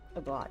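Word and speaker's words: Aglaea: Aglaya.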